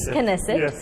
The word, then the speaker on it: Knesset: To talk about this growing bilateral relationship, we have with us the Speaker of the Senate, if I'm saying it correctly, Knesset.